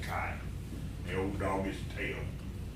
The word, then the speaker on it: Kay: new dog name is kai i spelled k-a-y but it's pronounced kai the old dog is